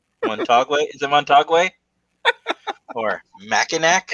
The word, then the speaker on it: Mackinac: Or Mackinac?